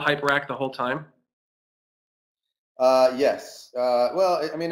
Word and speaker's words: Hyperakt: Uh, and not that hyperact is much easier to pronounce because everybody calls us hypercat, but but it was